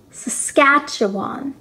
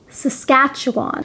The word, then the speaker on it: Saskatchewan: beside alberta is saskatchewan saskatchewan is probably the most difficult province name to pronounce saskatchewan saskatchewan the capital of saskatchewan